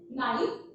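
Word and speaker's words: knife: Let's example, अगर हम लिखते हैं नाइफ, तो नाइफ में के साइलेंट रहता है, के साइलेंट रहता है, सिर्फ जो साउंड आता है हमें नाइफ NIFE का आता है।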